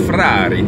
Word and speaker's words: Ferrari: Of course, you know, Ferrari, you got to say it with an Italian accent. It's Ferrari, yeah.